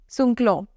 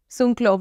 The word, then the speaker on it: Sunkloy: So in such cases, there is a very good word, Sunkloy. S-U-N-K-L-O-Y. Sunkloy. Y is silent.